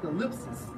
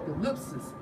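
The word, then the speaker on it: thlipsis: It's like Strong's G 2347 pronounced as thalipsis or thalipsis, and it states metaphor for oppression, affliction, tribulation, straits.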